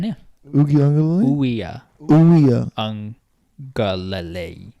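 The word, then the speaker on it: Uiagalelei: Ugi Ungalele. Yeah, it's pretty good, yeah. Ugi Ungalele? Uya. Uya. Ungalele. I thought there was a G somewhere in that. There is no G in the Hawaiian alphabet.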